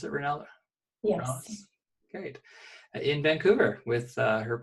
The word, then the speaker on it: Rallis: Is that how you pronounce it, Renella? Yes. Rallis?